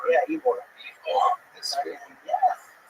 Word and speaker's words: Ybor: Ybor? Ybor. Yeah, Ybor.